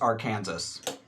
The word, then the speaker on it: Arkansas: It's just a Look at how Kansas is spelled and look at how Arkansas is spelled. And tell me they shouldn't be pronounced the same.